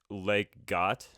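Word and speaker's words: Leg godt: But it would probably be Legat, I think is how you pronounce it, which is play well in Danish, which is Or where Lego comes from.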